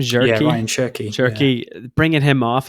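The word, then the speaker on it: Cherki: And even like I mean, uh, Cherky, how do you pronounce his name? Jerky.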